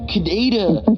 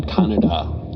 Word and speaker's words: Kaneda: His name's Kaneda, not Kaneda. It's like, no, that's how the name would be pronounced in Japan.